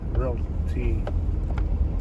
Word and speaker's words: realty: that person right there hometown realty that doesn't sound like it's a right way to pronounce it hometown realty realty that's the right way